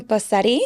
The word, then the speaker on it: Bosetti: Bosetti. Mm-hmm. Is that how you pronounce it?